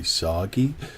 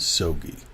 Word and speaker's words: Sogi: dr silvi your professor if you forget how to pronounce my name just think of a stogy cigar if you say soggy that's fine i'm gonna respond but that's not how you pronounce my name my name is sogi so probably the easiest